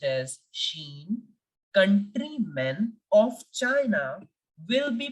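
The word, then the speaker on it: Chine: Wall of China and we pronounce China in French as Sheen always remember that whenever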